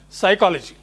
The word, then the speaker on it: psychology: For example, you have psychology. P is silent.